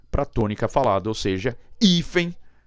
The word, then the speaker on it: hífen: pronuncia não e a língua portuguesa nos pronunciamos hífen hífen ou ele é forte